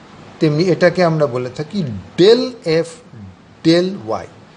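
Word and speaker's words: ∂: আমরা যেমন এইটাকে ডিওয়াই ডিএক্স বলে থাকি, তেমনি এটাকে আমরা বলে থাকি ডেল এফ ডেল ওয়াই। ডি না বলে তার বদলে আমরা ডেল উচ্চারণ করি, ডেল এফ ডেল ওয়াই।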